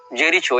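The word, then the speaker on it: Jericho: में किया जाता है जे ई आर आई सी एच ओ जेरीचो या जेरिको हां तक जेरिको होना चाहिए उच्चारण यह फलस्तीन का प्रांत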